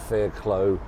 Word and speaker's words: Fairclough: Some people used to pronounce it Fairclough.